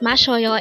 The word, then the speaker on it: 마셔요: Now, how do we write mashyeoyo in Hangeul? This composed of three syllables.